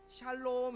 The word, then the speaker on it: 샬롬: 세게 발음하면 안 돼요. 우리나라 사람들 이게 세게 발음하면 욕이 되니까. 샬롬.